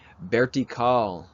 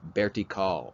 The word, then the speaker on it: vertical: so listen closely here bertie vertical so the v i pronounce with a a b sound is in boy berti call vertical horizontal horizontal diagonal